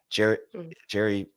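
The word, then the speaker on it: Gerry: Gary Bohannon, I guess is how it's pronounced, spelled Jerry.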